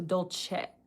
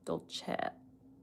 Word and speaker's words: Dolce: a similar way to the E in the word sell. So, dol- chet sell. Dol- chet dol- chet dol- chet And the I in Dolce is more like an E sound.